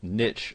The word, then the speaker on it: niche: And first and foremost, you'll need to decide what your niche, or niche as some people pronounce it, is going to be.